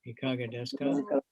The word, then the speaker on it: いかがですか: So I said to Shukarnam, Ikaga desu ka? いかがですかという言葉を覚えました。 And he got really nervous, and I said, what, did I pronounce wrong or what?